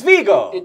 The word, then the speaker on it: Viggo: He is Vigo.